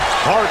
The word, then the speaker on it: Hart: Hart rhymes with start.